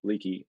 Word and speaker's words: Leakey: Well, thanks, Joey, and Nick, nice job on the pronunciation of Leakey. I know that can be a tricky one sometimes, Leakey versus Lakey, but thanks for the introduction, and it really is great to be here.